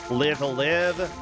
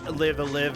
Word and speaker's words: Live A Live: It's pronounced live a live, not live a live.